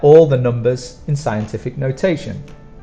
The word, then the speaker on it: notation: t-i-o-m and for pronunciation the strong sound is on the second sound notation notation so together scientific notation